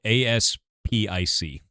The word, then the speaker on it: aspic: It's spelled ASPIC.